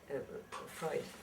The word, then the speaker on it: Freud: What Freud would Freud, excuse me, I pronounce it in the German way.